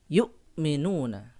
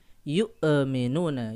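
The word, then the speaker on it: يُؤْمِنُونَ: mengalirkan suara ya yu'minuuna yukminuna bukan yuk aminun Ayu minuna ya ya ditekan tanpa mengeluarkan nafas ataupun suara yukminuna baik kemudian berikutnya ada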